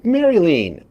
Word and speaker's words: Marlene: Pronounced like, oh, Maryline. Oh, that's like Maryland. Very close to the state.